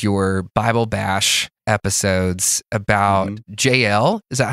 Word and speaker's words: Jael: actually one of your Bible bash episodes about Jael is that how you say her name yeah